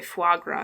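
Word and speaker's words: foie gras: zongi udon cold rice shrimp fagra uh sorry fagra that's how you pronounce that um and all of those are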